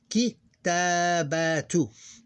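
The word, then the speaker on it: كتابة: We pronounce this one. It's in the middle of the sentence. It's not the end of the sentence or talk or speak. So we pronounce it as this, kitabatu.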